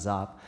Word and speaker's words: Giap: It was led by Ho Chi Minh and General, we often say Giap, but pronounced Zap.